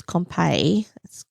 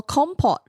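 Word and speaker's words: compote: And I don't think it's compay. I don't know how you pronounce it.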